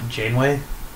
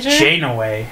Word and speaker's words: Janeway: I already learned that I was pronouncing uh what was it Jane way yeah janway Captain Janeway Jane away and I was wrong no it's just Jane at least I was close yeah and then at